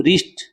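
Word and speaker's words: wrist: है ना यह देखो डब्लू आर साथ साथ आ ग तो क्या साइलेंट रहेगा अभी डब्लू रिस्ट ये डब्लू साइलेंट है क्या हैगा अभी डब्लू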